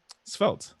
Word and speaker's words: Svelte: Svelte, like the English. I guess it's the French or English word.